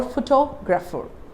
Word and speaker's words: photographer: I am stressing on the second syllable, means T-O-G. So I use these words saying photography or photographer.